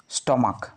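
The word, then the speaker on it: stomach: তাই এরপরে আসছে কি স্টমাক এস টি ও এম এ সি এইচ স্টমাক উচ্চারণ কি হচ্ছে সি এইচ এর উচ্চারণ ক এস টি ও এম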